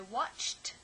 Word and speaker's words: watched: I watched the movie. So we write ed, but it's pronounced t because of the ch sound.